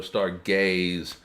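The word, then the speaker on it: Stargayze: so and uh Mecca it is spelled s-t-a-r-g-a-y-z-e um so star gays um and basically it the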